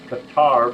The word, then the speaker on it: Qatar: Or, we will not sell XYZ to Qatar, pronounced Qatar by some folks, because we don't want the munitions to be transferred to another party, i.e.